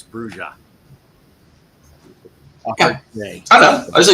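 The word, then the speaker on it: Brujah: I always tell people, you know, in the first edition book, it had a pronunciation guide, and it's Bruja.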